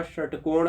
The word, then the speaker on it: षटकोण: अब आप देखिए तीनों शब्द का उच्चारण कीजिए, शरीफा, षटकोण और सरोज। तीनों में देखिएगा कि आपका जीभ अलग अलग जगह पर टकराता है, तो यह आपका